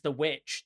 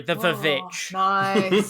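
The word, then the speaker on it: The VVitch: well i actually watched um robert eggers is the witch the sorry the vic say schumer's people pronounce it get it right from 2015 and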